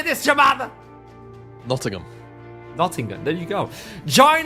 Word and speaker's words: Nottingham: at it how do you say this Jam Nottingham Nottingham there you go join us on March 1st and 2nd in nottingam where the lower bracket final and Grand Final will happen in Nottingham England in collab with Nottingham Trent University at